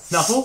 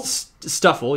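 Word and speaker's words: Stufful: Snuffle? Stuffle, you mean?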